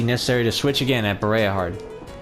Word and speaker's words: Bareahard: someone say them yourself so because I've heard bah hard I know how to say it that's correct that's correct after which point it would be necessary to switch again at bah hard it's situated at the very remote part of